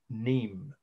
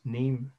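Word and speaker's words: Nîmes: city in southern France neem n i mes you don't pronounce the s in French n m s France neem France 15 BC or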